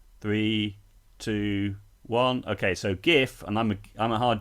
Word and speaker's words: GIF: seconds five four three two one okay so gif and i'm a hard g person stands for